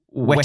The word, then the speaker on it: whet: So there's a common mistake of the expression to wet one's whistle, spelt W-E-T, and to whet one's appetite, spelt W-H-E-T, because of the identical pronunciation.